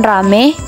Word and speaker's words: ramai: terhadap bunyi-bunyi diftong contohnya kata ramai diucapkan rame petai diucapkan pete perubahan